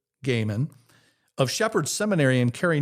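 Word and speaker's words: Goeman: true theologian and scholar, Dr. Peter Gaiman, that's spelled G-O-E-M-A-N, Peter Gaiman, of Shepherd Seminary in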